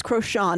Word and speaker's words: Crochan: So in this chapter, when we meet her, she's pretending to be a Crocan witch, which I also used to pronounce as Crochan, and I think mine is better.